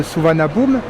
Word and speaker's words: Suvarnabhumi: Alors ça s'écrit Suvarnabhumi, mais ça se prononce Suvarnabhumi.